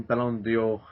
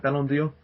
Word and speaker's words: Ballon d'Or: He's won Ballon d'Or... wait, before I go any further, am I saying it right? Ballon d'Or? Ballon d'Or.